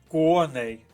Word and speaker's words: коней: цим словом другий склад А ось коней наголос паде на перший склад Схоже що це наша